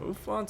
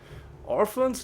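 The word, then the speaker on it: Ophans: construct master ofan master ofans are proficient life-based spellcasters orphans no not orphans ofans I will punish you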